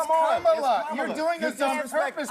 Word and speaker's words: Kamala: So pronounce her name right. Let me actually pronounce her name right. Kamala Harris. Kamala. You said this. We don't call you Nancy Mase. It's Kamala.